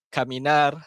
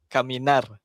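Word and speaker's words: caminar: Ha dia bukan abla bukan. Ha bukan abla kamina ataupun est bukan. Dia kena sebut ablar, kaminar, estar. Okey. R tu kena bunyi.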